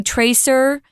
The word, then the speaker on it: traceurs: It's a French word. You can say tracer, but most people I've listened to and I looked up in the dictionary, 5 different dictionaries.